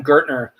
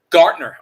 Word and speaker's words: Gaertner: my guest today on joe's place is gertner um and and and we've been having a great conversation i'm sorry say that one more time i don't make sure i say it correctly my apologies gartner okay so i'm very sorry that i keep